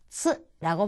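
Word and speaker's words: つ: 그런데 이 캣츠라고 할 때 쯔 부분, 이 뒤에 오는 쯔 부분 또는 이츠라고 할 때 뒷부분, 이것과 발음이 비슷합니다. 그러니까 츠라고 발음을 하시면 되겠습니다.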